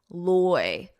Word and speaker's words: loiter: Notice that pronunciation Oy, oy loy, loiter, loiter, loiter.